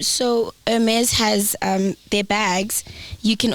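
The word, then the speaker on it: Hermès: the, It's the Hermes Birkin bag. So it's a woman's bag. Oh, so it's not Hermes. We're saying it wrong. Yeah, it's Hermes. It's It's Hermes. French.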